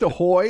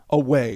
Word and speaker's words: aweigh: You actually read the word away and it's like, is that pronounced ahoy? And I'm like, not in any fucking language I'm familiar with. I admit when I'm wrong, and I was wrong. Anchors Away.